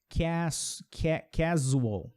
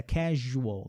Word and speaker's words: casual: É muito comum o aluno que está aprendendo essa palavra, ele pronunciar como usual, ou usually, casual, algo assim, mas é casual, não é um som de Z, é um som de J, casual, que é o mesmo som de Júlia, Juliana.